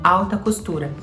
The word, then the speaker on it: haute couture: Il se rend donc rapidement au greffe et enregistre le terme Haute Couture qui en français se prononce « HAUTECOUTURE ».